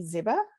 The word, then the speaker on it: Ziba: Our next speaker is Ziba. Did I pronounce that correctly? It's Ziba, but it's okay.